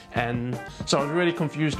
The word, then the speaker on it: 嗯: And if you look it up in the dictionary, it's actually pronounced N.